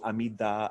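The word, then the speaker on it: Amitabha: those to chant um amitaba name so you may know him as AMU amida amaba amida many different pronunciations of amitaba Buddha so this may be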